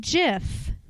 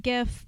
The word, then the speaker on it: GIF: thing Ryan Phillippe Philippe I pronounce it Jif like choosing moms choose Jeff I know some of you like GIF but you're wrong so